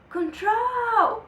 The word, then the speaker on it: control: última sílaba é tônica vamos testar contr control Não não é então é control é control Então quem é mais forte é o troll que é o CVC